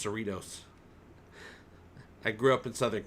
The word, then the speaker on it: Cerritos: Yeah, in California, Cerritos is pronounced Cerritos.